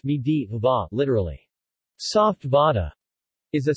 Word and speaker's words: medu vada: medu vada pronounced me deva literally soft vada is